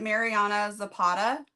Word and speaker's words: Mariana Zapata: seen her name around a lot is it Mariana Zapata yes yes okay okay me mastering phic awareness